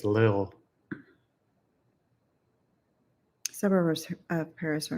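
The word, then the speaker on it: Lille: I think it's lil. Suburbs of Paris are not very attractive. You're not near sea ocean. It is pronounced like lil.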